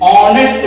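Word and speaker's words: honest: तीसरा उदाहरण देखते हैं, एन ऑनेस्ट मैन, इसी तरह आवर के जैसा ही ऑनेस्ट में भी एक साइलेंट है, एन ऑनेस्ट, इसकी भी ध्वनि कैसी है?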